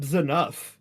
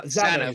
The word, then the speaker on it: Zanuff: Jade, Who is Chip Zanuff? that is correct. That can't be how you pronounce his last name.